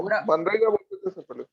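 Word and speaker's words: MGNREGA: क्या बोलते है एमजी कैसे प्रोनाउंस करेंगे सर वो मनरेगा मनरेगा अब वो आपकी मर्जी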